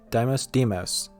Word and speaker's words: Deimos: Deimos. That's how you pronounce it.